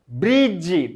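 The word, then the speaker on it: bridge: एटा देख ये B silent रोची कम B silent रोची कम ब्रिज ब्रिज ब्रिज नुह ब्रिज नुह ब्रिज ब्रिज एटी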